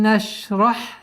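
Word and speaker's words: نَشْرَحْ: Алам нашрах лака садрак. Алам. Все мягкие звуки. Алам. Алам. Нашрах. Шин. Отличительной чертой звука шин является, что у этого звука есть свойство тафаши, то есть произношение медленно ш.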